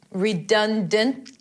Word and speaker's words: redundant: Sometimes the T is barely pronounced. It could be a healthy redundant. But if this is too much right now, we are working on increasing your vocabulary. Go ahead and release that T. Don't focus on making it perfect because a lot of native speakers release that T anyway.